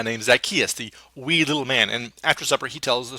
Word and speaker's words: mina: time for a very good reason it's actually pronounced mana and i know what you're thinking because that's what i was thinking it's pronounced in mana not yes yes you're welcome for getting that